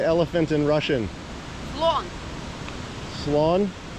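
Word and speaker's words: слон: Sloan. Lawn. Like sloth. N at the end.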